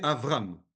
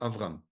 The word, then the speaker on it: Avram: On doit prononcer Avram. D'accord? Pour l'instant, on prononce Avram.